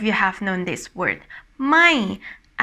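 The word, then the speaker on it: ไม่: ไ ม ่, and it's falling tone.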